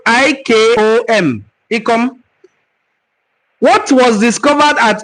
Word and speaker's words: Ikom: Ikom is spelled I-K-O-M.